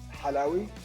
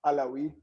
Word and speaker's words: Halawi: My name is Halawi. That's the Arabic pronunciation. Halawi for the Westerners, from Montreal, Alawi.